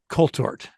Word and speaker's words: Coulthart: Colthart. I think you say the th sounds like a T. Colthart is what I think he says.